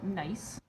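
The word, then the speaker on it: gneiss: this piece of uh nice spelled like this or crystals like in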